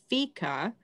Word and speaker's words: fika: was reading um and it's a swedish word and it's pronounced fica and it but it's